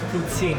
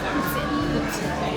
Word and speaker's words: poutine: In French, it's poutine. If you want to say the real Quebecois way, it's poutine.